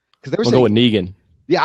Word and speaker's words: Negan: there's no negan yeah i'm going with negan but these people were saying negon noggin one of those things again where you you take a word that everyone can pronounce and you it up i wouldn't except i heard someone else pronounce it completely different and i was like what no it's negan anyways what's up what's